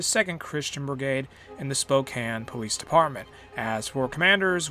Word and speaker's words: Spokane: that i will say our capital is spokane spokane that is how you say it and we control